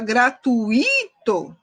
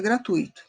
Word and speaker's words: gratuito: outro aqui a palavra gente é gratuito gratuito gratuito e tem gente que fala gratuito foi o acento no imperator itu tá isso é um erro de prosódia porque o correto é gratuito e aqui também rubrika